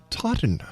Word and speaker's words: Totten: I'm sorry, that's Totten. How do you say that, Mike? Totten Trilogy.